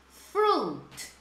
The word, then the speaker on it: fruit: Não pronuncie o I, gente. Vão lá e façam um risquinho no I para não pronunciar o I. Fruit.